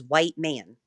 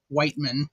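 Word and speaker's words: Wiechman: But phonetically it is still like Whiteman.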